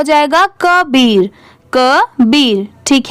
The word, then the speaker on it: Kabir: यहाँ पर इसकी प्रोनाउंसिएशन का नहीं होगी क्योंकि का को हम लोग इंग्लिश में क्या लिखते हैं? KAA। KA को क्या पढ़ेंगे? क। और BIR को क्या पढ़ेंगे? बीर। तो पूरा मिला देंगे तो क्या हो जाएगा?